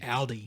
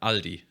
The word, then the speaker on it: Aldi: like Aldi Aldi but how do you pronounce it it's all it's actually closer to what we say Aldi what everyone says yeah Aldi Aldi yeah and it's